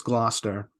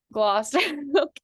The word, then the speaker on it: Gloucester: It's Gloucester. Gloucester.